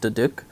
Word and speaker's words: duduk: Apparently, that instrument, the like flute-looking thing, is called, I'm going to say this wrong, but it looks like it would be pronounced Duduk.